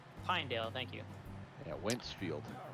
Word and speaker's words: Pinedale: Pinedale. Pinedale, thank you.